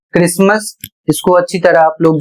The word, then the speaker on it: Christmas: सी एच आर आई एस टी एम ए एस और इसे पढ़ा जाता है क्रिसमस।